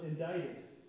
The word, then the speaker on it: indicted: jury when Tom was indicted. Did I say it right this time? Indicted. I've told the story before and I pronounced that word wrong.